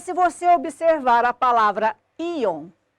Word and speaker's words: íon: Então, íon, sílaba tônica é o I.